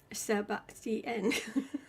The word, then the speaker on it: Sebastian: Sebastian. Sebastian. Sebastian. That's how you say my name.